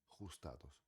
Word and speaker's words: ajustados: ajustados em português ajustados a mesma forma de escrever a ponética é diferente tá ajustados rota U. Lembrem-se que em espanhol é diferente. Rota U. Ru. Os dados, tá? J são de garganta.